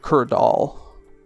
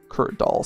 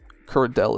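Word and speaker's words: Duradel: Slayer Master instead of Durell or I guess Kurdell at this point. Um, Kurdal. Kurd Doll specifically. Curell isn't actually right. You have to be phonetically correct about these things, but I've actually switched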